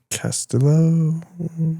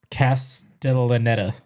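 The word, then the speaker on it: Castellaneta: Castillo. Close. It's uh, Castellanetta.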